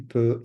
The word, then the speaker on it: peux: You've got the X, the T, je peux, tu peux, il peut. Again, the X, and the T are not pronounced at all. It's as though they're non-existent.